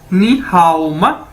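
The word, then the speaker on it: 你好吗: ये देखें, ये आ गया हमारे पास नी हाओ माँ, ये इसकी प्रोनाउंसिएशन है, यानी इसको कैसे बोलना है नी हाओ माँ।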